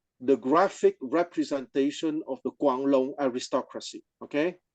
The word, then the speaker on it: Guanlong: graphic representation of the quangong aristocracy Okay quangong g n and the g is pronounced like a k like in kangaroo Guan long l o